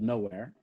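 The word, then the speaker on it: Knowhere: I have a business called Nowhere.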